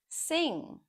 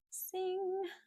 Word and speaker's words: sing: It's not sin without the um the the sound there. It's sing and it's not sink. Sing right through your nose.